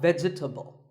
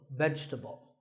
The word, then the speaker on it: vegetable: a lot is vegetable it's not vegetable if you say it correctly there are only three syllables Vegeta vegetable let's talk about a